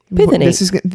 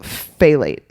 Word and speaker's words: phthalate: So the stuff that makes plastic products flexible is diethyl pithenate. You guys, some of these words are really hard to say. I just totally botched that. Diethyl phthalate. I think the P is silent.